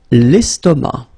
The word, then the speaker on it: l'estomac: L'estomac. L'estomac, okay, same thing here, final C not pronounced, and then M means that this word, estomac, is masculine, okay?